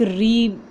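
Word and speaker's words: ऋ: जैसे हम इसको बोलते हैं, री बोलते हैं, तो इसका उच्चारण भी री की तरह ही होता है। जैसे क री पा, कृपा, ग री ह, गृह।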